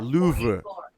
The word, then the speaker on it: Louvre: It's actually like Isn't it pronounced the Louvre? Oh, it might be. You know me, I'm an actor. Unless someone writes the lines for me, I'm not going to get them right. Yes, the Louvre.